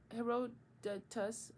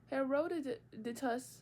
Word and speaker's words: Herodotus: century later in the 5th Century BC her Herodotus Herod Herodotus Herod how did my professor she